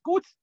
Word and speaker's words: kutz: Aquí está como lo escribimos hoy en día, la sílaba Q y la sílaba Tzu. Está la transcripción con itálicas, lo leemos Kutz, Y así está con